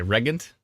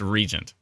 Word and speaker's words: Regent: what did I say regant Regent I said Regent and regant and it's Regent of course it's not even close that's this is why